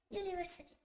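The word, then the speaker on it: university: ইউনিভার্সিটি। ইউ এর উচ্চারণটা আমরা দেখতে পাচ্ছি ইউ, এ হবে, যা ব্যঞ্জন ধ্বনির মতো শোনা।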